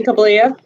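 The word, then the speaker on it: Kobliha: state your full name for the record kabalia and what is your what yeah yeah would you please spell it for the court reporter thanks last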